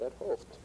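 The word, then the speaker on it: 't Hooft: Ed Hof's name, because he said his name is Gerard Ed Hoft. I said, okay, and then I saw how he got the preprint and saw how he spelled his name, and I said, what a funny way to spell Ed Hoft. Instead of saying the reaction of everyone else, which is what a funny way to pronounce Thuft.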